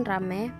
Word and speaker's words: ramai: Sedangkan contohnya yaitu kata ramai. Ramai diucapkan rame, petai, petai diucapkan pate.